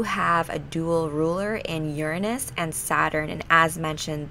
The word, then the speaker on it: Uranus: of the zodiac Uranus yes I pronounce it Uranus not your anus but whatever you can